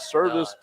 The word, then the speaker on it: Servaes: We are over here at Servaes, even though it's not spelled like Servaes. It is Servaes.